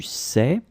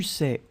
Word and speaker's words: sais: Okay, final S, not pronounced. Tu sais, and then this où, it's where, okay? Tu sais où sont tes habits, okay?